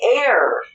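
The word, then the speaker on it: heir: let me see h-e-i-r just say air as an okay and one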